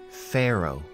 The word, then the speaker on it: pharaoh: our top 10 list again we have the pH which gives us the F sound and at the end we have a silent h pharaoh definition of pharaoh is